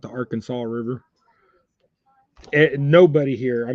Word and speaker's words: Arkansas: looked at the rules up here in AR Arkansas see when I see AR Kansas I want